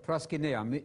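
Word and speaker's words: προσκυνέω: Same word, proskuneo, using modern Greek pronunciation, not mispronouncing the Greek.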